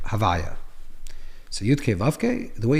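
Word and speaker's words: הוי״ה: certainly in later texts is that it's called havaya. So vav the way it's pronounced havaya the name of havaya.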